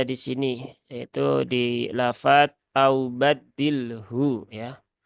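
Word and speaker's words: أو بدّله: Nah di sini Ee lagi-lagi kita bertemu pada pertemuan dua huruf sukun ketika waakaf yaitu lam dan huruf Ha Di mana lam dia ada di alisan sedangkan ha itu ada di alhalq ya di tenggorokan lam ada di ee lidah begitu kan Nah maka ini dipastikan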